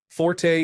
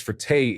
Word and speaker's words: forte: Forte is often pronounced as fert in Italian, but it actually comes from French and is correctly pronounced fort.